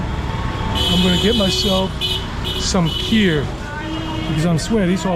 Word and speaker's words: kheer: Kheer, but in Hindi, kheer.